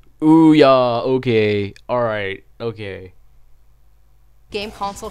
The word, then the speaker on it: Ouya: Oh, it's pronounced Ouya.